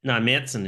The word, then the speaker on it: Märzen: Märzen is how you pronounce the style.